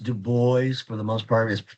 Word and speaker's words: Du Bois: It's pronounced Du Bois for the most part. It should be called Du Bois. It's been, I guess it's commonplace to call him Du Bois.